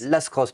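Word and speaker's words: Lascrosses: Paris 15 à Toulouse on est boulevard lacross c'est bien ça lascoss lascross pardon je prononce pas le S et on a un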